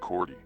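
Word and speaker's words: Te Kooti: fellow prisoners dubbed him takuti pronounced cordy tragedy followed his escape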